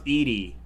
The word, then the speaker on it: Edie: Oh, apparently it's pronounced, y'all, apparently it's pronounced Edie. Edie White. How's that? Oh. Oh. Oh my god. I'll be taking that. This dog is gorgeous. Edie like in Desperate Housewives. It's spelled that way.